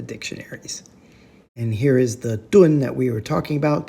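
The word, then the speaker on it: 噸: With a mouth radical, that's ko, to the left, we get a first tone, doon, that is in English, or a metric tonne. That's what linguists would call a loan word. It sounds like tonne, doon.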